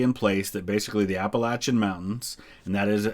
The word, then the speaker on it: Appalachian: place that basically the Appalachian Mountains and that is how it's that is how it's pronounced by the majority of people who live in what we call Appalachia um that run right